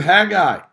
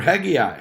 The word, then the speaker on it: Haggai: He just keeps saying, he says it in the book of Haggai or Haggai, however you want to pronounce it.